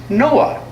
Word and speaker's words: NOAA: Oceanic and Atmospheric Administration the acronym is pronounced Noah a government agency couldn't